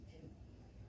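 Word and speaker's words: 十: People associate 10 wicked acts with the number 10, pronounced Ju.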